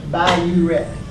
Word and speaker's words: Biuret: I don't think you say BUR, it's just B-I-R. I reckon that big R is the ret part, but it's pronounced Biuret.